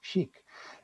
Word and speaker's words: SCHC: the acronym is schc however it's very difficult to pronounce so we often pronounce it as chic which by the way is equal to how a word in french sounds which means stylish or cool or something like that and actually it's not